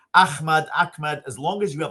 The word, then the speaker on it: Ahmad: So Ahmad is the proper Arabic pronunciation. But I also, I lived in the Netherlands for a long time. They say Ahmad there, Ahmad. That's fine. Even with the Turks, what do they say? Ahmet, that's fine as well.